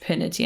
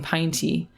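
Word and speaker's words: Pinety: previous episode um that it can be pronounced pinity and I like that better because I was saying pine tea as we heard of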